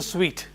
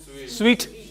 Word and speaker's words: suite: her a a presidential suite presidential suite. If others pronounce this word as a suit please forgive them. Even hotel industry people may pronounce it as suit only but it is sweet.